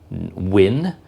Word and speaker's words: Nguyen: van Wynn so like I think you pronounce this word this name win it's n g u y e n and so it's Tuan t-h-u-a-n van v a n and then Nguyen or is it just win n-g-u-y-e-n but anyway he's